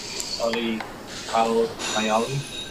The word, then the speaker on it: Salih Kayalı: Are we pronouncing the name right? Salika. Salih Kayalı.